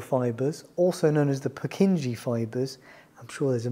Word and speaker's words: Purkinje: are the sub-endocardial fibers also known as the purkinje fibers i'm sure there's a much better pronunciation of that out there but that's that's